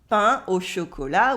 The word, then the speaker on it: pain au chocolat: Un pain au chocolat with the un at the beginning, and you don't say the T of chocolat.